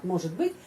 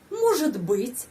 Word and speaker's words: может быть: Может быть, dan penekanannya pada huruf O. Может быть, может быть. Coba pengucapan может быть, di sana ada ж. Может быть, может быть. Kita mengucapkan seperti satu phrase ya, sambung.